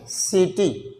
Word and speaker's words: city: For example जैसे मान लीजिए यहाँ पर दिया है CITY, ये क्या इसको पढ़ेंगे सिटी।